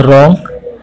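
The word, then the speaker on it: wrong: जैसे ये हमारे साथ बोलो, जैसे रॉन्ग, नो, नीटिंग, ऑनेस्ट, साम। तो आपको देखो ऐसा वर्ड है जैसे पहले में आपको देखो W जो है साइलेंट है, दूसरे में K साइलेंट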